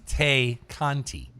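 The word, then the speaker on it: Tay Conti: or team program oh you said tay conte tenara who used to be in nxt is she's now going by tay conte in aw just like the mexican beard takante no that's not that's taco this is tay kanti so like bill conti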